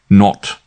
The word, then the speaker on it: Nat: She pronounced it not.